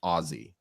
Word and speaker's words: Aussie: very very loudly that it's actually pronounced Ozzy did you I don't